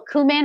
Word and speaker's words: cumin: we're also gonna use a little cumin or cumin depending on how you say it depending on how you were raised I'm gonna use a